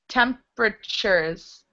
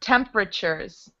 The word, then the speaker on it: temperatures: Just a note about the word temperatures. That's how we pronounce it. Temperatures. Temperatures. So it looks like temperatures, but it's not pronounced that way. That T-U, it's sounding like a ch.